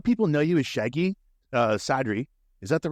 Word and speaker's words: Sadri: A lot of people know you as Shaggy Sadri. Is that the right pronunciation? Yeah, you got it. Yeah, Sadri.